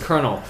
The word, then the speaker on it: colonel: Colonel it it's spelled col I know it's pronounced Colonel but I always forget I'm like colonel know